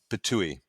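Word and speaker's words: Ptuj: city that you really got to visit is pouille it's spelled PT I it was it's a very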